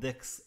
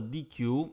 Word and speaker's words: deque: we discuss today about decks and maps and yes you've heard me well is pronounced a deck and not a DQ even though you will